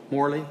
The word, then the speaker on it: Moeller: Is it Moeller, is that how it's pronounced? Morley, excuse me, Morley, for being the employee of the quarter.